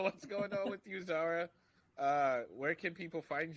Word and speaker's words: Zahra: applebee's uh so what's going on with you zara uh where can people find you uh you all can find me on the socials at uh really zara zara is called z-a-h-r-a it's spelled phonetically because my dad was like all